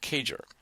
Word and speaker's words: CAGR: periods where we use compound annual growth rate pronounced cager for year-over-year Revenue growth